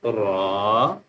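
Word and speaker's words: ر: This one because this one is the bold letter, so we will pronounce with full mouth ra.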